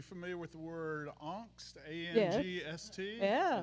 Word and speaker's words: angst: with the word angst a-n-g-s-t yeah that's how it's pronounced in german we call it angst